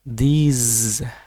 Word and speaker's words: these: Jadi ada sound seperti Z di sana ya. This dan these gitu ya.